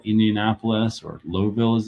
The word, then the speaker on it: Louisville: Indianapolis, Louisville, Indianapolis, or Lowville as it's pronounced, Indianapolis, to Chicago.